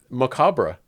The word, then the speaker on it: macabre: And yeah, it's macabre. Right? I'm going to go slink back into the darkness. So... I have been mispronouncing.